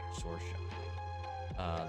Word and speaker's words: Saoirse: Then you should go to Google to actually learn to pronounce Sorsha. There's one actress named Saoirse Ronan.